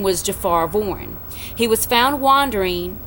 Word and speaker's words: Jophar: His first name is spelled Jophar, Jafar.